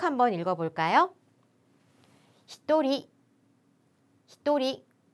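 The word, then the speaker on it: 一人: 해당하는 는 표현이죠 그런데 한 명과 두 명은 여러분 발음을 조금 조심해 주셔야 돼요 닝이 아니라 한 명은 히토리 히토리 두 명은 후다리 후다리 그리고 세 명부터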